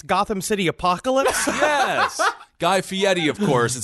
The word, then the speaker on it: Guy Fieri: Guy Fieri, of course, is how you pronounce the name.